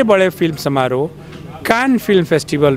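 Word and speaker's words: Cannes: कान film festival में, जिसको India में कांस कहते हैं लोग, फ्रेंच में कैन बोलते हैं उसको, क्योंकि फ्रेंच भाषा में कई शब्द साइलेंट होते हैं। तो इंडियंस को अभी कैन बोलना नहीं आया, तो वो कांस कहते हैं।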